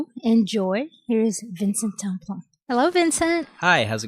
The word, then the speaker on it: Tamplain: Tamplain. Tamplain. Yeah, it's a French name, sort of local, bunch of different spellings and variations of it, but the French is